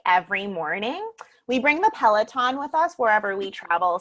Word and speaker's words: Peloton: Peloton? Am I supposed to know what that is? Peloton. That's how it's pronounced.